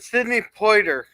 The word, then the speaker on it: Poitier: All right, Skogley said Sidney Poitier. Sidney Poitier. Poitier. It's French, I believe.